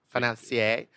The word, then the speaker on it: financier: At the end of it, he goes I was like, "You need to pronounce it in a French way." Financia. Financier.